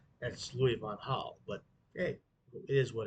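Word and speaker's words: Louis van Gaal: van Hall was at uh Manchester United hit Louis Von Gall that's Louis Von Hull but hey it is what it is and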